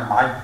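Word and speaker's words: 马尾: 尾巴啊，这个正确发音念蚁，蚂蚁。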